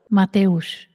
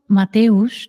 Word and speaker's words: Mateusz: Mateusz, yes. So Mateusz, the way you do it is, you just are living life.